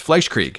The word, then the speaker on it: Fleischkrieg: I'm going to say this wrong, and then I'm going to say it right. Fleischkrieg. Actually, I said it right the first time. It's Fleischkrieg. Is it? Because German that used to do the second vowel, not the first like English.